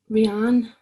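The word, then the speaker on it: Rehanne: Rihanna.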